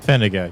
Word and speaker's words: Fenega: The emphasis on which syllable was confusing me. Yeah. Oh, yeah, I wanted did to say Fenaga before. I think I said Fenaga, but You said pick Fenega. one, and I'll go with that.